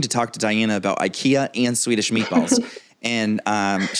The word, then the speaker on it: IKEA: I have to know do you sh at Ikea yes is it pronounced Ikea yeah you hesitated that means I was just